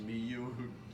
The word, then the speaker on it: Nimue: you but you but I think in the book that it's actually pronounced me you you like the end is replaced it's meant to be an M I don't know why